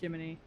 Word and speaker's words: Gemini: His name's Gemini. It's spelled Gemini, but pronounced Jiminy.